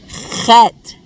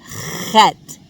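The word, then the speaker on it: חית: And its sound can be a little bit difficult for English speakers because we don't have this sound in English. It sounds like a raspy H sound, kind of like the sound you make if you're trying to clear your throat of phlegm. So, chet, chet, chet.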